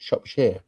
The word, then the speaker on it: Shropshire: That's how you pronounce it, Shropshire.